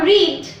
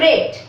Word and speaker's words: read: RED করলে সেটা তো রং হয়ে গেল, লাল রং, কিন্তু স্পেলিংটা লিখবো READ, উচ্চারণটা করব রেড।